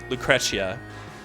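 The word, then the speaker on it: Lucrecia: I'm pretty sure they say it Lucretia, like with a little emphasis on the T. Lucretia, like it's a little cha.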